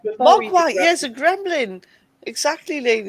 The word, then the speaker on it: Mogwai: Mogwai, yes, a gremlin.